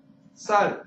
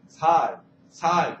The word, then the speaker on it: 쌀: 그러니까 외지 다른 지역 사람들은 쌀 하는데 경상도에서 태어나서 자란 그러니까 토박이이신 분들 아예 거기 오리지널로 사투리를 쓰시는 분들은 이 쌍시옷 발음이 안 돼서 쌀이 안 된다고 그러죠. 살 그런다고 그러죠.